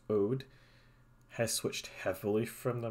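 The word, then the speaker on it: Aude: And I will also note this: people might note that this department here, which is, I believe, pronounced Ode, has switched heavily from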